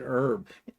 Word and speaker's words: herb: No, you know, basil is a oregano is a it's an herb. Herb, not herb. It's not a herb. It's an herb. H is silent.